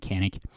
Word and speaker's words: Canik: All Canik guns are Janik, depends on how you say it. I think the real way to say it is Janik, but if you're an American, we say it Canik.